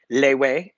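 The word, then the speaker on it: Lethwei: weigh or lead way lay way is how they pronounce it there Wes foreigners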